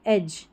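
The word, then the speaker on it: edge: Away from the sharp एज, जब भी DGE साथ में रहे, जैसे इसमें है, यहाँ पर एज करके इसको पढ़ेंगे, DGE को ज पढ़ेंगे, एज, एज, किनारा, ठीक है।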